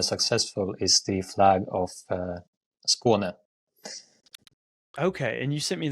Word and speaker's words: Skåne: I mean, I'm a noted lover of the Nordic Cross flags, but yeah, how do you pronounce it? Skåne? Skåne. Skåne.